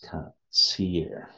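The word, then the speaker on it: קציר: So you got chata, that's wheat, and you got katasir, which is harvest. Katsir, how do you say that? That's katsir.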